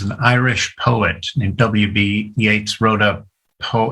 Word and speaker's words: Yeats: but you know it's it's not like it's phonetically spelled yet i always thought it was is it is it yates it's spell yeats and